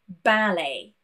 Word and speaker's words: ballet: We have a lot of words from the French language in English, and a lot of French words do end in T. When we have brought them into English, we don't want to pronounce the T. For example, ballet, beret, rapport.